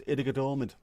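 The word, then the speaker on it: Ittoqqortoormiit: That's Itakatormit. Pardon, Christine. Pardon. Can you hear me now? Can you hear me? T's are pronounced like D's, so it's Itakatormit.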